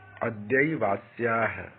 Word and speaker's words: अद्यैवास्याः: अद्यैवास्याः, इस तरह से इसको उच्चारण करेंगे तो तोड़ तोड़ कर कभी कर सकते हैं। अद्य एव अस्याः।